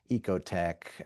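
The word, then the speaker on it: OEKO-TEX: standard setting organizations like Ecote Tech is one I discovered uh somewhat recently. It's spelled kind of strangely, OE KO. I think it's like a German kind of spelling and then TE X.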